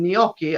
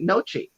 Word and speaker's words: gnocchi: Midwestern uh manner like instead of saying gnocchi I'll say nochi oh I have had